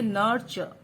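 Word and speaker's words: nurture: यू आर चल नर लेकिन इसका जो सही प्रोनंसिएशन है व है नर्च आरी यहां पर साइलेंट रह जाता है नर्च लिखेंगे नर्च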